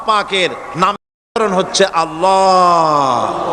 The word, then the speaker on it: আল্লাহ: আল্লাহ পাকের উচ্চারণটা হচ্ছে আল্লাহ পাকের নাম হচ্ছে আল্লাহ মুখটা একটু গোল হয়ে যাবে বলেন আল্লাহ আল্লাহ পৃথিবীতে